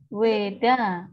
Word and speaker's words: Veda: Sama kayak kitab sucinya Hindu tadi, Weda bacanya, tapi tulisannya Veda ya, pakai V.